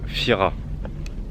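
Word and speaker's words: Thira: des maisons et ça c'est l'ancienne ville de Fira ça s'écrit T H i r a mais ça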